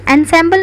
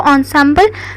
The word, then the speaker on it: ensemble: ensemble नहीं कहेंगे इसको, ensemble प्रोनाउंस करते हैं, बिकॉज यहाँ पे लिखा भी है ensemble प्रोनाउंस।